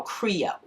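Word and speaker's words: Krio: There are two languages that are spoken in Sierra Leone, and that is the English language and a language they call Creole. And that's spelled K-R-I-O.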